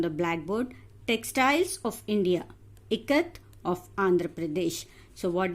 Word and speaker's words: Ikat: I as in it.